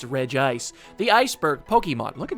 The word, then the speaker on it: Regice: do that all right Reed ice properly pronounced Red Ice the iceberg Pokemon look